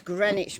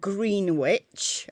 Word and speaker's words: Greenwich: was set to GMT that's Greenwich meantime not green witch as I've seen some